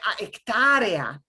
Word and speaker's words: hectárea: Hectare, or hectare, pero hectárea, se pronuncia hectárea.